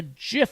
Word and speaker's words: GIF: a thing of the peanut butter it's a Jif file okay an apple just bought the company